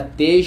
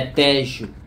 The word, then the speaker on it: Tejo: o Rio tá pessoal eu pensei que era tej mas a pronúncia correta é tejo Olha que lugar sensacional